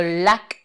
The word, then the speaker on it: lack: joy, par exemple, a lack of joy, un manque, L-A-C-K, lack, lack, c'est bref, a lack of, un manque de quelque chose.